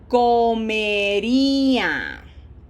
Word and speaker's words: comería: Reminder on pronunciation, this is a closed o, always closed. So, this is not com, this is co. Yo comería.